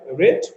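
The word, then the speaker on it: read: রিড এর ভার্বের যে রিড ভার্ব তার ভার্ব পাস্ট টেন্স করলে হয় রেড এবং পাস্ট পার্টিসিপল করলে হয় রেড। স্পেলিং বা বানানটা একই থাকবে, কিন্তু উচ্চারণ করার সময় রেড উচ্চারণ করে নিতে হবে।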